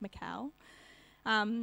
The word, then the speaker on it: Michal: It's spelt like Michael, but without the E, so I'm guessing it's Michal, which is important later on in the story.